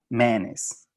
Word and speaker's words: mayonnaise: esta que según es que dicen 2 sílabas y lo pronuncian como manes, manes. Entonces, mayonnaise, manes.